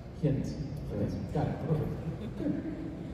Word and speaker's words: Ghent: Yeah, I'm Canadian, and it makes me upset when I was pronouncing it like, I was pronouncing the American pronunciation. It's Ghent.